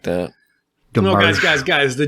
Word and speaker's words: Domergue: No, Demarge. guys. The D is silent.